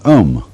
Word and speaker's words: om: sound is used because if you spell it out a u m it runs from the back of your throat to your lips and therefore it contains the whole range of the voice and for that reason